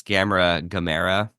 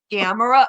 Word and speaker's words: Gamera: Or when they pronounce Gamera, I'm like, no. Gamera, yeah.